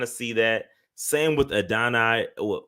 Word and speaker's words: Adonai: Same with Adonai. How do you say it? Adonai. AD Mitchell. Adonai. Let's say AD, bro. Adonai. Added on. Just call it add a 9.